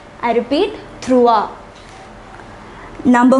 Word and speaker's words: trois: Number 3 is trois. I repeat, trois.